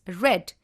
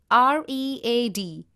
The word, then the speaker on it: read: the case of read the past form of read is red though you will be spelling it as r-e-a-d it has to be pronounced as red only and not read we can use auxiliaries